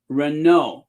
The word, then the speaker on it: Renault: after Decades of making other goods and renown Renault the tea is silent Renault founded uh the Renault Brothers in 1899 their